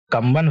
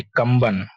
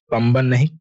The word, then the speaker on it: कंबन: तमिलनाडु का जो है कंबन वैली यह बहुत फेमस है कंबन वैली कंबन कंब नहीं कंबन साइलेंट [नाक से की जाने वाली आवाज़] वैली हमें पता है नीलगिरी में है।